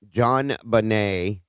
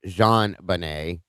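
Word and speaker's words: JonBenét: listen to the name, John Bonet, which was actually supposed to be pronounced Jean Bonet.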